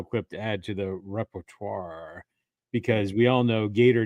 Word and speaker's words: repertoire: And by the way, I believe that is a French term in nature, so I believe it's repertoire. Repertoire, I believe, is how that's pronounced.